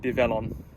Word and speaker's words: Develon: So going by that, you pronounce it Develon.